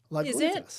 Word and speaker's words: Lagunitas: Maybe it should be “Laguntas.” **Chelsea:** It’s a Spanish word for small lakes. Lagunitas.